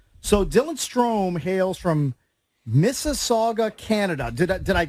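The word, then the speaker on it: Mississauga: Dylan stro hails from Miss Saga Canada did I did I pronounce that correctly am I close yeah it' be like Miss Saga Ontario but yeah you got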